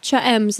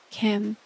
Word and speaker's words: Cha: to say Cha's name I thought it was Kem for the last year it's cha which is like how it's spelled but again when I looked it up originally it was I I was told it was Kim I felt like my